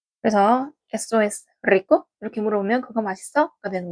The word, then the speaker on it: rico: 맛있고 없고는 이제 속성이기 때문에 에쏘, 에스 다음에 맛있니라는 말은 맛있는이라는 말은 rico를 써요. rico. 그래서 SOS rico 이렇게 물어보면 그거 맛있어?가 되는 거고 이때 R 발음은 떨어주셔야 되거든요.